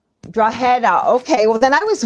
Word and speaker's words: Drogheda: The G is silent, believe it or not. So it's like a H. It's Drogheda. Drogheda.